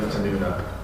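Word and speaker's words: يفتنون: be a day when they are tried, or yaftanuna. Did I say it right? Yeah. Yaftanuna, or punished or burned over the fire, meaning burning, so meaning like applying fire.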